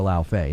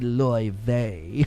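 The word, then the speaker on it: Laufey: They all say God of War Lao Fei. Now people are like, it's actually supposed to be Loy Vei.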